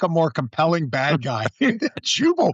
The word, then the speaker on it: Jubal: I think Jubal Early. Am I pronouncing Jubal's first name?